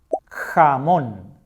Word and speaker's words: jamón: Jamón, jamón. This is the Spanish for ham. They sound very similar, right? Ham, ham, jamón. This ham is a bit more strong.